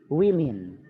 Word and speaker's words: women: Kalau yang singular mah itu nulisnya woman. Oh, okay. Pakai A. Woman. Kalau ini dibacanya women.